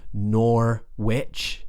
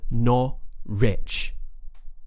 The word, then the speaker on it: Norwich: edinb Edinburgh norich Norwich this one confuses people because the spelling is nor witch nor witch and you'd probably think that's how it's pronounced but we would pronounce it as nor Rich imagine someone saying I'm not rich nor nor nor rich nor